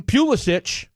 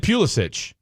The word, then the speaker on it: Pulisic: Shout out to Christian Pulisic.